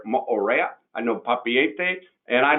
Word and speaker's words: Moorea: I know Moorea, that's how they pronounce it there, Moorea.